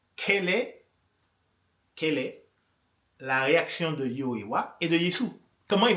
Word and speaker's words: Yehovah: Je n'arrive pas à me défaire de cette prononciation qui est celle des témoins de Jéhovah. C'est Yehovah. Moi, le nom de Dieu, je le traduis par Yehovah.